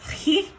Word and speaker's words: chi: the greek letter chi it's actually technically pronounced he but i'm not gonna